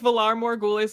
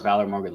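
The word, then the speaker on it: Valar Morghulis: of the audiobook the way that he says velar more ghoulish made me want to always so fast when he said it i was like no it's valor morgan stop like don't ever say it like that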